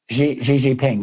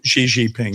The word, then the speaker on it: Xi Jinping: either Putin or Xi is that how you pronounce the Chinese? Xi Jinping, yeah. Xi Jinping, yeah.